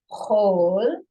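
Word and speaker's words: כָל: Now it's pronounced this one word with an O sound. Chol, chol, or it could be pronounced chol, chol.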